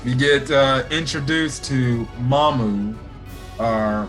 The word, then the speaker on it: Maam: get uh introduced to mamu our mom i know weird pronunciation of a name but i'm going to say mama um because that's how they say it in japanese fairy enough but if